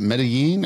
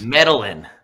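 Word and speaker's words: Medellín: Medellin. Medellin is what I think it's actually Medellin. Medellin? But, oh, there's like a Medellin. Yeah, Medellin, yeah. The two L's. Medellin, like that.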